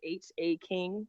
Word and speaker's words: Haking: All right, so no haking it is. Haking rhymes with caking, rhymes with baking, rhymes with taking.